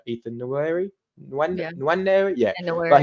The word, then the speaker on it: Nwaneri: Sorry, I can't pronounce his name right. Ethan Nweri. Yeah. Nwaneri, yeah.